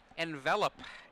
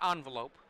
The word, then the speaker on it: Envelop: Dublin we see an wow envelop in his hand not envelope I still yeah I still pronounce an envelope sometimes by accident okay he's sending a